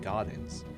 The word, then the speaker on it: Gaudens: Gaudens, to create a memorial. Why'd you say gardens like you're from New Jersey? Gaudens. Well, it is spelled G-A-U-D-E-N. Oh, okay, so, Gaudens. Yeah, so it's not gardens.